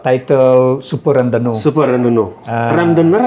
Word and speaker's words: Randonneur: Randonneur apa Randonneur sih Bang bacanya? Randonneur. Orang panggil Randonneur ya. Randonneur.